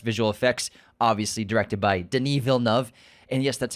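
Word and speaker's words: Denis Villeneuve: well as best visual effects obviously directed by Deni VNV and yes that's how you pronounce his name we get a lot of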